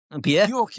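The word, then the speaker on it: Björk: I said Bork. Is that right? Bork. Yeah.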